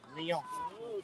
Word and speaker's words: Lyon: Lyon.